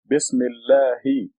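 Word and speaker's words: بسم الله: Together, the article Al becomes silent and becomes Bismillah. And there's a kasra here, makes it Allahi. Bismillahi.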